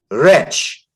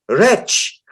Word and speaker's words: wretch: In Tunisia, she made me learn every word, even wretch. I said, there is a W, there is a T. How can that be wretch?